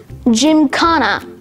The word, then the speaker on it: gymkhana: word of the day is gymkhana, spelled G-Y-M-K-H-A-N-A. Gymkhana. Gymkhana has one alternate pronunciation, gymkhana.